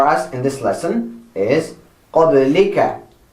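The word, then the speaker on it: قبلك: So I start with qab, the 2 dots, and the fatha. And then I go and write the ba, the sukoon, the la, with the kasra it becomes li, qabli, and I write the ka, qablika.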